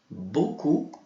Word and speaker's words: beaucoup: Merci beaucoup. Ok? Também o P a gente não vai pronunciar.